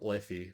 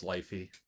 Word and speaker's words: Liffey: Um, it was constantly, the beer name was constantly mispronounced at Beer Fest. It was always Lifey, which I don't blame people.